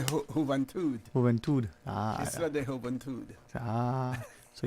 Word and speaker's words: Isla de la Juventud: How you say it in Spanish? Isla de Juventud.